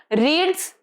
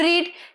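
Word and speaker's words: read: पर यह रीड नहीं पढ़ोगे। आप इसको पढ़ोगे रेड। जो रीड का पास्ट फॉर्म होता है, भले ही उसकी स्पेलिंग सेम हो पर उसको पढ़ा क्या जाता है? रेड है ना? आर ई डी वाला रेड प्रोनंसिएशन होता है उसका।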